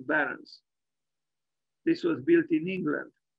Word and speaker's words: Behrens: Northampton by Peter pet I guess we should pronounce his name he was German and not English Peter Barons this was built in